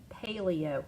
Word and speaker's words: paleo: with something that's 0, long A, and the word paleo. Oh, paleo. Oh, thank you, long A. Okay, long A sound. Yeah, paleo.